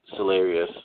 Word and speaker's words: Cellarius: So, for example, if you look at Cellarius, spelled like cells of a body, and then Arius as in hilarious minus the word hill, you can look up our Instagram, Cellarius2084.